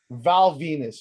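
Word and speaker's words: Val Venis: Next on the list, speaking of dick, Val Venus, baby. This guy's name rhymes with penis.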